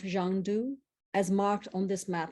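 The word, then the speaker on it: Shangdu: So this land of bliss, this Shangri-La, is also known to the West as Xanadu, which is the westernized pronunciation of Zhangdu, as marked on this map.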